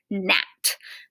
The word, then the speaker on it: gnat: When GN is together, it says N. So the G is silent, like in the word gnat, a little fly that buzzes around.